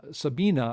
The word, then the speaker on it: Sabine: different tracks i mean sabine sabina i think is the way you pronounce it in germany i was yeah sabine